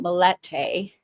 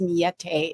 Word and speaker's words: Millete: So Mete is not mallete. It's Mete. If you hear me pronouncing that way, I'm just doing my very